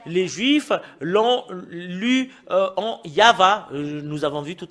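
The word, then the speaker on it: יהוה: Et le fait de le lire selon la Sainte Écriture hébreu, c'est Yava qu'on le prononce. Et vous ne pouvez pas lui faire une discussion et le contredire que c'est Yava.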